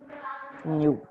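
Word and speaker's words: ν: This is pronounced as nu. Okay. ऐसा कुछ लिखेंगे. It is not V. It looks like V, but it is not V.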